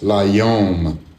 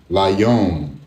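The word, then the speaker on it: לַיּוֹם: And when you pronounce it together, it's layom, layom. And this first character here is a prefix, okay?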